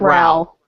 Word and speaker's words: Rowell: Is that how you pronounce her name, or is it Rowell? It's spelled rowling, not like bowling. Mm-hmm. Exactly, like rowling, not rolling.